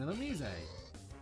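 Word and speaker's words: Illumise: Oh, an Elomise. Yes, that is actually how you pronounce that name.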